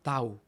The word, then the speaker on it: tau: también lo conocemos y se escribe la mayúscula como una t pero se pronuncia tau Ok como en Taco después tenemos upsilon y